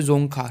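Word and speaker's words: Dzongkha: की जो है वो जो डी को हम साइलेंट पढ़ते हैं और जों बाकी आप हिंदी में पढ़ सकते हो जोखा ठीक है तो यह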